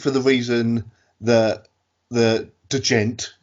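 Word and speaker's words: djent: Sixth, for the reason that the gent, we've got to say it like that because that's how it's spelled, scene kind of exploded here in the UK.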